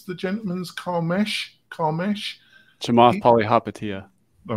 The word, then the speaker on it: Chamath Palihapitiya: How do you pronounce the gentleman's Carmesh? Chamath Palihapitiya.